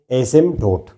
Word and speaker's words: asymptote: और आज एक नया लफ्ज़ आप लोग सुनेंगे, एसिम्पटोट। पी इसमें साइलेंट है, लिखते हैं एसिम्पटोट, मगर पढ़ते हैं कैसे हैं? एसिम्पटोट।